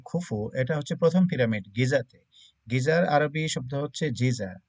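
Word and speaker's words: Giza: গিজাতে গিজা যেটা আরবিতে গিজা বলে। তো এই মিশরীয়রা জিমকে গ এর মত উচ্চারণ করে। যেমন জামাল আব্দুল নাসের এরা বলবে জামাল আব্দুল নাসের।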